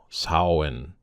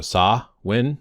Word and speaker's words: Samhain: But there's a specific part down here, and it has MH, and it shows here that it is pronounced like a W or a V.